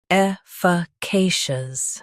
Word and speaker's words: efficacious: Today, we will learn how to pronounce the word shown on the screen. Efficacious.